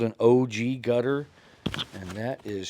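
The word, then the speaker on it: ogee: This is called an OG gutter. And that is spelled One broken pencil.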